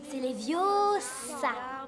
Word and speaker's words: Leviosa: quelqu'un et puis d'ailleurs c'est ma part le prononcer leviosa et pas les vieux ça fais le toi puisque